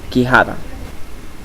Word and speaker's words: quijada: In Spanish, the U sound is not pronounced. Let's take a look at some examples: queso and quijada.